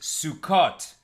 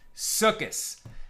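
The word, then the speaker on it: סוכות: darkness for anyone confused sukut kind of more modern Hebrew more of a Sephardic pronunciation sukis kind of ashkenaz traditional northern European pronunciation as you know sort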